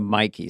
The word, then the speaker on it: Mikey: I kept saying Mickey instead of Mikey.